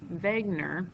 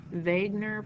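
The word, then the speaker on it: Wegener: structure of our continents Vagner it's he's a German guy so the W is pronounced as a v Vagner proposed a theory that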